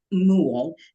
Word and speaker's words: Muhl: One with the hat on is Frank Muhl, rhymes with pool.